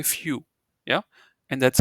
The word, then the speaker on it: für: I mean so yeah it's easy to pronounce it if so you know view right like it's a nice view you know Sunset is a nice view just replace V with f and say few yeah and that's how